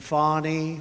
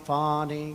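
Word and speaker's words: Fani: local attorney generals and fonnie fonnie you know fonnie spelled f a ni I my name is FY F A ni I I don't figure it you put a little French Accent on the word with her lover Wade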